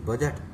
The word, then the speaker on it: budget: अब चलिए डी वाले साइलेंट, डी में जैसे BUDGET, बजट, बजट माने है बजट ही है, तो इसमें डी साइलेंट है, BUD साइलेंट है।